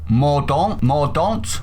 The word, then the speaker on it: Mordaunt: be aware, the Paymaster General, who is called Mordaunt, I think that's how it's pronounced, said this in reply to her.